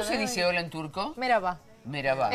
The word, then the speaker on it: merhaba: Merhaba. Merhaba. Es merhaba con H, pero la H un poquito.